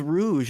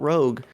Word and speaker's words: Rouge: literally until the show I was watching the show and they say her name is Rouge I like looked at the title a little harder I was like oh that's that is Rouge that is not Rogue so I see that